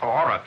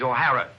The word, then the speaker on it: O'Hara: do you remember saying my name is not aura it is o'hara here mr o'hara yes